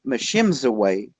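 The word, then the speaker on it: Mishipeshu: they have a creature it's pronounced many different ways but machines away is one of the ways it's pronounced and it it translates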